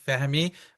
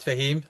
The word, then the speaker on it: Fehmi: My name is Fehmi, not Fahim, or Fehmi for those who cannot pronounce the H.